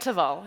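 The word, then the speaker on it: Teval: at uh shik shika and taval am I pronouncing that shiko and taval yes yes uh so for all of the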